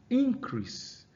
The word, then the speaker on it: increase: Increase. That is a rise. All right. Now that's showing you that the stress is on the first syllable, right?